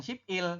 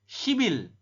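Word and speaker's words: 십일: Ini dibaca bukan sip il tapi shibil. Oke, dibacanya apa? Dibacanya adalah shibil. Kenapa jadi shibil ya? Anda lihat tulisannya ya, teman-teman. Ada biap di akhir, konsonan biap bertemu dengan vokal i.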